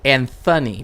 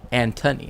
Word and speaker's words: Antony: speakers right and so Anthony became how it's pronounced but it's te technically Antony and we know this because Antonio antoan you know um Antonio right um Anton etc etc etc and even and even the nickname Tony right um but like